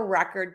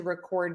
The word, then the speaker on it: record: The word that I think I hear mispronounced the most is record and record. Those two words are super difficult for a lot of my students. So I keep a record to record your responses.